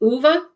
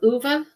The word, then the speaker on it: Ove: It looks like Ove. It's O-V-E, but I hear everybody pronouncing it Uwe.